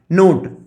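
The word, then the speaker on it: knot: हम लोग जानते हैं जैसे के एन ओ टी, नोट, के साइलेंट है नहीं, और इसको हम लोग पढ़ते हैं नोट, और नोट का मतलब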